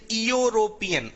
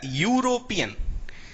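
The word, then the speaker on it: European: हिंदी की किताब में ई लगा होता है, कई लोग बोलते हैं यूरोपियन, अरे नहीं भैया यूरोपियन, इसमें ये लगा होता है या, ये वाला या, क्या वाला जो क्या में आता है।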